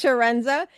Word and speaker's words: Chiarenza: The like an S, so it's Sharenza.